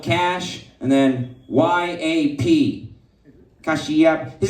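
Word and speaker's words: Kashyap: His real name is spelled Cash and then Y-A-P. Kashiap.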